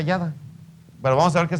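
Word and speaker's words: ידה: alabanza es yada pero como en el hebreo no hay no hay vocales así se escribe y d y H pero se pronuncia yada pero vamos a ver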